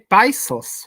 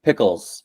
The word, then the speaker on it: Pickles: And now, excuse me if I pronounce wrong your company's name, Pisos, right? Or It's actually pronounced pickles.